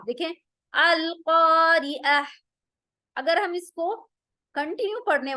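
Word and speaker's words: القارعة: अगर इसको वक्फ करेंगे तो हम इसको ता नहीं बल्कि हा में तब्दील करेंगे, कैसे, अल क़ारिअह।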